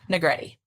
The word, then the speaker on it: Negretti: Eddie spaghetti spaghetti yeah it rhymes with spaghetti um we determined that